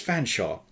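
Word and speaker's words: Featherstonehaugh: It's Fanshawe. F silent E, A silent T, silent H, silent E, silent R, S silent T, silent O, N, swap the N and the S, silent E, H, A, U, G, H, Haw.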